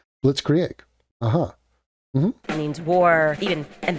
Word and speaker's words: Blitzkrieg: just quick fun fact, you're totally butchering that word. Blitzkrieg. And it's like, I get that you're not German, but I'm not even holding you to a German pronunciation of it. I'm saying you can't say our version of that word. say blitz means lightning. Right. Krieg. Krieg. Oh, okay. Blitzkrieg.